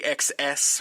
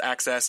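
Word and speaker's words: AXS: he's the stuff on access a excess but this pronounced access see one of my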